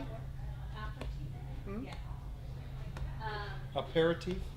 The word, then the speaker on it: aperitif: I think I pronounced that one. It's like a Aperitif? aperitif.